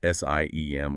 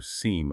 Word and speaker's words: SIEM: Tools called SIM, that Security Information and Event Management, often pronounced SIEM or SIEM, are designed for this.